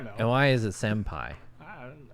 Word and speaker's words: Senpai: And why is it Senpai? Oh, Senpai, like It rhymes with Jin Pai.